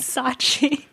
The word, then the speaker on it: Scaachi: because her name is spelled with a silent c and I was like oh a silent c that means her name is Sachi that is nefarious okay